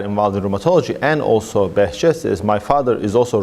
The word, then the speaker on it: Behçet: And talk a little bit about, let me help you pronounce this, Behçet?